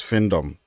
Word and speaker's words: findom: what's fom okay so the right pronunciation is findom findom now listen to the meaning